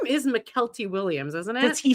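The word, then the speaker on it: Mykelti: surrounding Forrest Gump and it was McKelty Williams. And then I would always get irritated when people would repronounce it as Michael T. Williams because that indicates that it's Michael T. Williams, but it's McKelty.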